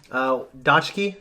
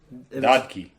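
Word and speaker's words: 딱지: Dodki. Yeah, I wrote down phonetically Dotki. I think it's the second one you did. It's not Dodge key. It's in between that and dot key.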